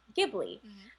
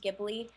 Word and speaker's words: Ghibli: a passionate topic because technically it is pronounced Ghibli as an Italian word but Hayao Miyazaki calls it Studio Ghibli so um so it